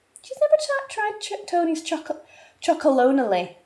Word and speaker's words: Tony's Chocolonely: she's never tried Tony's chalone are you crazy oh my God it's unbelievable babe she's never tried Tony's choc chocon is actually how you say it chocon yeah cuz I